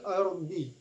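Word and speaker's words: الأرض: Fil ardi. Nah, di sini ada hukum bacaan alif lam qamariyah. Mengapa? Sebab alif lam menghadapi huruf hamzah dan tandanya ada sukun.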